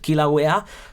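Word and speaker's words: Kilauea: Can you pronounce it? Kilawea the summit crater called well another interesting name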